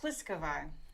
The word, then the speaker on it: Pliskova: I can never pronounce her. What's her name? Oh, it's Pliskova.